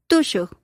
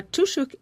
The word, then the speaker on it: tushuk: Actually, it's the person who's dancing is called a Tushuk. Okay. Again, tushuk ends with a K, but the K is not fully pronounced.